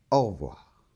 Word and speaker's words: au revoir: commun aussi en c'est souvent la lettre e quand elle n'a pas d'accent 1 très souvent on ne l'entend pas donc au revoir allez on continue en